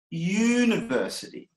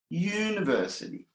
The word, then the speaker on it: university: pronunciation we pronounce it University University so we press it with about you it's written and we pronounce it with a consonant the Y consonant but that's the sound